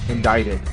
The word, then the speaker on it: indicted: you pronounce it right indicted the C is silent and now live on